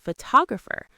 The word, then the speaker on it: photographer: Now, say photographer. Pho-ta-gra-pher. The stress completely moved. Same root word, totally different rhythm.